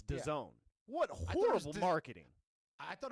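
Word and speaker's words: DAZN: Well, yeah, you would think it's Dazzin, but it's Done.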